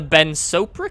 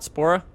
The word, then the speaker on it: Ben Sopra: bunny kit and the Ben sopra kit apparently is how you pronounce it not spora sopra there you go um